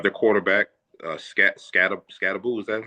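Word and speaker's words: Skattebo: With their with their They have their quarterback, uh Scat- Scat- Scatabou, is that how you pronounce his name?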